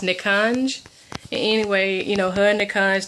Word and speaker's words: Nikanj: I think his name is pronounced Nikanj.